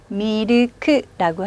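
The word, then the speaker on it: ミルク: 밀크는요? 미르크라고 합니다. 미르크. 이 미르크는 우유를 의미하기도 하고요. 커피에 우리 왜 프림하고 설탕 넣어서 드시잖아요. 프림을 일본 사람들은 크리무라고도 하고요. 또 이제 카페라떼 같은 데는 미르크를 넣어서 마시기도 하죠.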